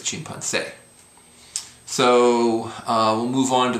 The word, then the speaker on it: chimpancé: And chimpancé is what it would be without the accent, but it's chimpancé.